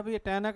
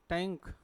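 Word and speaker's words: tank: है फिर क्या लिखा टनक नहीं है इट्स टैंक ठीक है यह बनक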